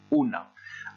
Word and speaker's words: una: article indéfini hall una attention à la prononciation ce n'est pas du français on dit bien houle est ici on dit ona attention si à olemps